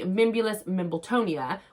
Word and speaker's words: Mimbulus Mimbletonia: I answered, and I could never say it right, so I was dying to make sure I pronounced it correctly at the time. But the Mimbulus Mimbletonia was the answer to that question.